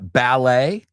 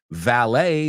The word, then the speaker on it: valet: no then you've got valet ballet is a dance valet is the person who Parks your car very different valet than ballet okay so make sure you that that b and that V earlier we said too